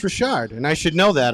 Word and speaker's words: Richard: It's not Richard, it's Richard.